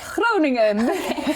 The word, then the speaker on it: Groningen: English literature from the University of I can't pronounce it. Groningen.